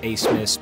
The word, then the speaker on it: Abmas: heard the name max a smith before the turn you probably don't know where oral roberts is or that the b in his last name is silent max is used to